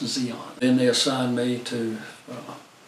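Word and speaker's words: Di An: us over to Zeon it's about d-i-a-n but pronounced Zeon then they assigned me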